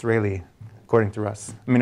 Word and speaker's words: Rayleigh: Rayleigh quotient is that correct Russ it's not rally it's really according to us I mean according to the world that's the correct pronunciation but all right okay here's the the